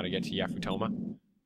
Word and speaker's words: Yafutoma: Someone here has to know how to get to Yafutoma. I've heard it pronounced Yafutama, but I don't like pronouncing it Yafutama.